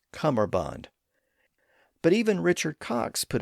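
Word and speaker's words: cummerbund: Interestingly, in modern English, especially in North America, it's often pronounced as cumber with a b sound in the middle. So, Cumberbond, even though the traditional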